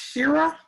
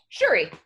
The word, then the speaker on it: Shuri: And is it pronounced Shira? Shuri. Shuri. Shuri.